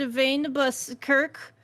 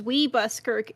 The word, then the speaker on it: Van Buskirk: vein bus kirk when my when my brother was a baby he would pronounce our last name as we buskirk and now every time i say my last name i have to resist the temptation to say we bus kirk just a fun fact